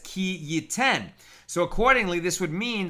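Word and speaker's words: כי יתן: And yet we read it based on the tradition as to its correct pronunciation, ki yutan, which indicates any situation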